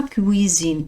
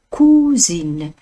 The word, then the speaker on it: cousine: ردوا البال النطق، ماشي ما كويزين، لا، ما كوزين.